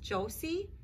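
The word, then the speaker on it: Joosse: written by barbara and i think it's pronounced jos josie j-o-o-s-s-e and the pictures are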